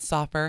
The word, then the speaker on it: Soffer: I'll say it right. Soffer.